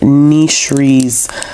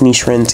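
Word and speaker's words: Nisrin: making friends amulet and nishri's the piece by piece the story of nishrin sorry hijab i keep saying her name wrong but it's niche wren's hijab so i ended up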